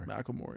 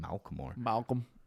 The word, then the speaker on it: Macklemore: Macklemore, yeah. I keep saying Malcolm.